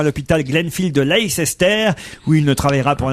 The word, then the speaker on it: Leicester: Jerry McCann a repris son poste de cardiologue consultant à l'hôpital Glenfield de Leicester, où il ne travaillera pour l'instant que 3 demi-journées par semaine.